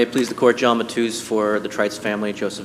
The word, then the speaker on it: Matus: Unless you're Portuguese. Mattius always comes out.